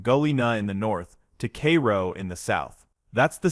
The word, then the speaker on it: Cairo: Locals pronounce it Cairo, not Cairo like Egypt.